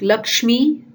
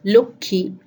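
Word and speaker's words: লক্ষ্মী: The next change happens in the pronunciation of the conjugated letter sh, and it is replaced by the k sound in Bengali. So it's a double k sound, and again, like the other situations, the change happens only in pronunciation and not in the spelling. Some examples will make it clear, like Lakshmi becomes Lukhi, Lakshman becomes Lakhun, Laksha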